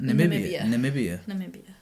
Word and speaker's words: Namibia: How do you pronounce that? Namibia.